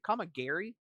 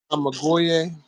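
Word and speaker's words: Kamigoye: Like the is it Kamagiri knee strike? Is that how you say it? Kamagoye. Kamagoye. Okay, okay, I messed it up there.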